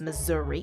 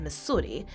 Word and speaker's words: Missouri: board and declaring that the proper pronunciation of the name of this Imperial Commonwealth is Missouri and not Missi has been commented on by